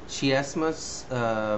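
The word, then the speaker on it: chiasmus: based on কনস্ট্রাকশনে সেটা হচ্ছে শিয়াসমাস উচ্চারণটা শিয়াসমাস সিয়াসমাস বানানটা তোমরা দেখো সি এইচ আই এস এম ইউ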